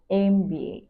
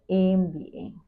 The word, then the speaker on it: MBA: let's look at examples use n if the abbreviation starts with a vowel sound for example an MBA pronounced as MBA MBA use a it will